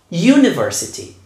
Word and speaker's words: university: a consonant sound the university the European Union so these two start with a sound y this Y is a consonant sounds now how do we